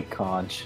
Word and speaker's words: conch: it's it's I'm pretty I thought it's definitely conch you know what what piggy holds when he wants to talk no I look it up and see how it's pronounced it's con all right it you see it's both actually it has both both pronunciations side really there's something